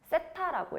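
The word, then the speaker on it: θ: 세타라고 읽어. 세타. 알파, 베타, 감마는 그 시리즈에 있는 거야. 그리스 시대. 그래서 세타라고 읽는데 요 중심각을 기준이 되는 중심각을 세타라고 했을 때 그럼 어떻게 쓰냐면 사인 세타라고 써.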